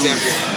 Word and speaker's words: Zambia: Because usually in Africa, I think A's are pronounced ah, so I'm just assuming it's Zambia. Yeah. It's Zambia.